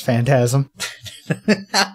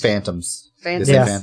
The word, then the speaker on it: phantasm: to talk about how people can't pronounce phantasm they're like what word is this supposed to be like Jesus these phantoms yeah yeah no that's not it I just ignore it